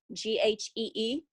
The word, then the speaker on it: ghee: that she was using i hope i pronounced this right g g-h-e-e clarified butter is that correct uh ghee is correct but in this case